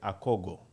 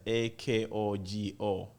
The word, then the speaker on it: akogo: here in my country we call it the akogo it's spelled as a-k-o-g-o akogo but its origin is in the southern